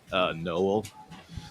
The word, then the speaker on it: Nowell: How were you pronouncing it? Nowell, Okay.